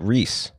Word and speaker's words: Reese: You wrote Reese. Well, it was spelled R-E-E-S-E, but it's pronounced like the wrong people pronounce Reese's?